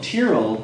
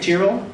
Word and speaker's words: Tyrrell: Head curator of the Royal Tyrrell Museum. Is that right, Tyrrell? Not Tyrrell. No. So we've all been saying it wrong for.